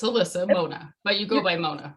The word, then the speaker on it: Monah: uh just said it wrong alyssa it's alyssa mona but you go by mona right yes yeah